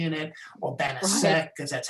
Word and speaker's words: Banachek: Because I put a C-H-E-K because I didn't want like bounce a check with the extra C in it, or Banachek because that's how Americans would say it.